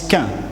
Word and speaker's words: chien: Mais un petit chien, en Normandie, on prononce quin, un petit freluquet de quin qui jappe.